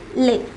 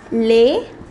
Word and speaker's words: les: plural so any noun that is in plural will be preceded by lay for example we saw the word garson for the article we say however if it is in the plural form say garcons then instead of love we will place lay similarly for the word see when it is singular you will say la fi however in the plural form it becomes lay fee even the words which